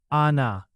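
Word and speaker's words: आना: Ana has that long a sound. Ana. Jana too. Jana. Don't crush it into a short sound. Stretch it a bit.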